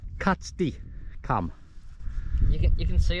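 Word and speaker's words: Catstycam: KY come KY Kat C katti katti cam pronounced katti cam you can you can see on the cont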